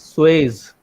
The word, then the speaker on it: Suez: third one was the Suez Canal, and the fourth one was Bering Not Strait Swiss crossing. Canal. It is not Swiss Canal. It is, sir. What is the right pronunciation? It is Suez.